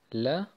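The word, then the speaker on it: لا: Das ist ein Lam-Elif und den sprechen wir einfach nur La. Und bei Ya, Yi, Yu. Bei den Türken spricht man das eigentlich mal Lam Elif aus. In Wirklichkeit ist Lam Elif eigentlich La.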